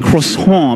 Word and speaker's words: croissant: shouldn't I know I'm giving him the incorrect pronunciation Clayton right you threw him under the bus croissant croissant he's right croissant maybe a little more H and you would